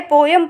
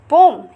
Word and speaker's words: poem: जैसे कि पहले पोएम पढ़ते थे, POEM पोएम, जिसे पोइट्री बोलते हैं, but right now इज पोम। इसकी प्रोनाउंसिएशन क्या हो गई है, पोम।